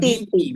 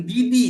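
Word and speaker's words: 弟弟: Adik laki-laki itu DI, bukan Titi. DI. Ya, betul ya. Bukan Didi dibaca, tapi Titi.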